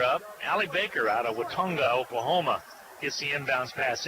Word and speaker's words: Watonga: I figured that might be Watona down in Oklahoma. No, I think that's Watonga, I believe.